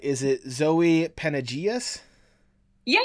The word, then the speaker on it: Panageas: your name I want to make sure I pronounce it right is it Zoe penages yeah it's uh yeah Zoe panagius okay I kind of got the hint of